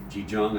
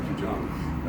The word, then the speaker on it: Qigong: Qigong, I believe it's pronounced, right? Qigong.